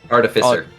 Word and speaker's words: artificer: you call it AR yeah EXA yeah um artificer is usually how it's pronounced fair enough um I've heard it prounce